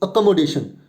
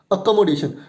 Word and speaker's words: accommodation: for this word, and the pronunciation is a, no need to speak, give stress, ko, no need to give stress, m, day. Day is the word syllable which we need to stress. It's accommodation. It's not accommodation, it's accommodation. Accommodation.